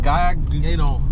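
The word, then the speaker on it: Gueydan: Also, how do you pronounce this town? Gaydon.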